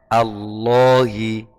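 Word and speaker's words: الله: Contoh, wa hamzi alhamdu a'udhu ihdina Allahi. Contoh lafaz Allah. Allah. Allah itu kan lam jalalahnya dibaca tebal. Ya, karena dia jatuh setelah fathah.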